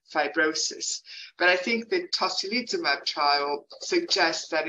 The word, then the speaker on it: tocilizumab: I might need your help pronouncing this. Is tocilizumab an antifibrotic?